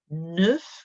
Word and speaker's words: neuf: Neuf, we've got that sound like de, neuf. And you can hear that F at the end. That is not silent.